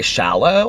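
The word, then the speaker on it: Shallou: um album called well it's by shallow i think it's how it's pronounced it s-h-a-l-l-o-u and they do this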